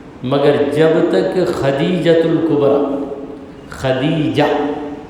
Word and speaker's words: خدیجہ: جب تک خدیجۃ الکبریٰ، خدیجہ یہ صحیح تلفظ ہے، مگر یہاں پر چند لوگ خدیجہ کو ختیجہ کہتے ہیں، دال کو تے میں بدل دیتے ہیں، یہ ہمارے لوگوں